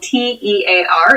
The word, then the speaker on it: tear: This word is spelled T-E-A-R. It looks like tear, but used as a verb, it is tear. Tear, to talk about an injury.